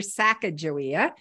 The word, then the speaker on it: Sacajawea: differently than I do so I call her saaka joia there's um a spelling with a J which